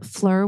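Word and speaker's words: Phlur: So fragrance, Fleur, which is, I think that's how you say it, PHULR.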